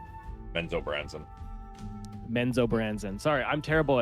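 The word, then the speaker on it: Menzoberranzan: So, like, I don't even know if he knows it's called Menbranzan or Benzo Branson.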